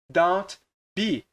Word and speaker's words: don't be: Eles geralmente comem esse T aqui, eles não pronunciam, vira don't be, ao invés de don't be.